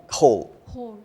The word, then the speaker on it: whole: but it's the same this word is the same pronunciation as h-o-l-e and most of those